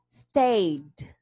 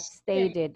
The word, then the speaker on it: stayed: This is pronounced as stayed. Stayed. Stay. Stayed. It's not stated, okay?